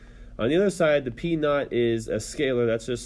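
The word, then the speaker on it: P₀: That's pronounced p naught.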